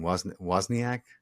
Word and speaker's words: Wozniak: Wozniak?